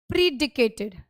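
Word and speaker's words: predicated: Next आता है बेटा प्रीडिकेटेड, प्रीडिकेटेड। अब यहां पर प्रेडिकेटेड है, ये करेक्ट प्रोनाउंसिएशन इसकी क्या है, प्रेडिकेटेड। क्या है बेटा इसकी करेक्ट प्रोनाउंसिएशन, प्रेडिकेटेड।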